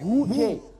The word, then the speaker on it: Hookay: Oh, like Hookay.